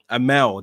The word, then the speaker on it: Amale: Kicks, knocks down with a lariat, Amale. And she's definitely in the ascendancy right now. Amal is how you pronounce it. That might make sense. Amel, that's what the commentary team are saying.